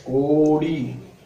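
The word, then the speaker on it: கோடி: See K-O-D-A written in English. So you have to pronounce it as Kodi.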